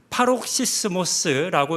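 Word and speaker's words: παροξυσμός: 이 단어의 헬라어는 파록시스모스라고 읽는 단어입니다. 좀 어렵게 읽어집니다.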